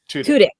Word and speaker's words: Tudyk: we posted about was for, and I cannot pronounce his last name, is Alan. Is it Tudyk? Tudyk.